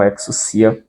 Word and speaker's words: ἐξουσία: Porque aí tem um ditongo aí, o o ditongo aí. Então você lê como U e não como o, tá? Então você lê como exucia dentro dessas pronúncias mais tradicionais.